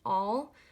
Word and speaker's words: awl: that but you basically just want an all um it's spelled awl um I think I